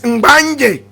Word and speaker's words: Mbanye: Remember that the name Gonja itself, correct pronunciation is Mbanye.